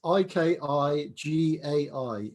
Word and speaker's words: ikigai: write it in the japanese mnemonics but it's i k i g a i ikigai it's subtitled the japanese secret to a